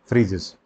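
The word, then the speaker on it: Phryges: क्या नाम है फ्रीजस इसको फ्रीजस प्रोनाउंस करते हैं पी एच वा पी एच आर वाई जीई एस फ्रीजस और यह जो है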